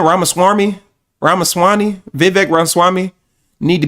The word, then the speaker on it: Ramaswamy: Ramaswami.